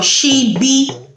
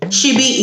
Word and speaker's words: ṣíbí: Now, the second S is pronounced sh, like I said. And S is for she-be. She-be is your spoon.